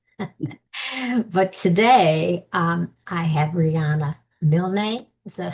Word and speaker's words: Milne: But today, I have Rihanna Milne. Is that how you? Yeah. Okay, Milne. Uh-huh. One syllable.